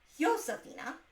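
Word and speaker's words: Josefina: In April, we will be doing Yosphina. I've been mispronouncing this because again, you think I should know better, but J's are pronounced with an H in Spanish. So rather than Josephina, it's Josephina, I think.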